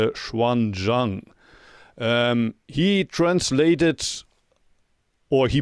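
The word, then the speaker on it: 玄奘: monk by the name in Japanese you pronounce it genjo but in Chinese probably it's schan Jang um he translated or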